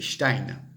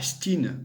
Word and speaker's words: Stein: C'est Stein, c'est pas Stein à l'américaine, c'est complètement bidon.